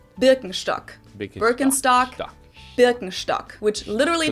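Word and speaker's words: Birkenstock: English speakers usually say burkenstock in German we say bstock bstock bstock which literally the S is basically sh translates to Birch stick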